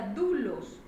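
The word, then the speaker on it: δοῦλος: Ahora estudiemos el término esclavo del Strong griego 1401, doulos, y se pronuncia doulos, propiamente alguien que pertenece a otro, un esclavo, sin ningún derecho de propiedad propio.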